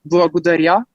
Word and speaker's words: благодаря: And in Bulgarian, the proper way of saying it is благодаря.